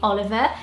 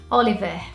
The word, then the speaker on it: Oliver: this one here, which in British accent you'd probably say Oliver, and Brazilians would say it Oliver.